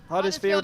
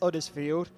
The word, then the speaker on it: Huddersfield: I was about to say, they've gone further than they previously managed, have Huddersfield. I feel the need to remove the H because they don't pronounce it themselves if you're from Huddersfield.